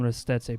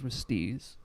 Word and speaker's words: Ristezze: Like, if you go to his home, like his native town, they would call him Ristezze, but he just pronounces it as Restiz.